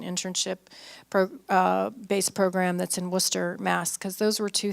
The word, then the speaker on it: Worcester: in Worcester but it's it's pronounced it's actually word Chester but it's pronounced Worcester yeah yeah okay yeah okay so you know